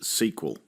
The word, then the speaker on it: SQL: video you learn that the SQL in MySQL or in an SQL file is often pronounced SQL you learn that a